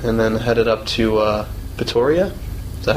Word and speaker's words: Pretoria: Hung out with Veronique Palmer for a bit, and then headed up to Pretoria.